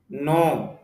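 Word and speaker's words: know: নো জানা, এখানে খেয়াল করেন শব্দের শুরুতে খেয়ে আছে, অথচ লেখায় আছে কিন্তু উচ্চারণে আসতেছে না। যদি উচ্চারণে নিয়ে আসে উচ্চারণ হবে কেনু, অথচ আমরা বলতেছি নো, জানা।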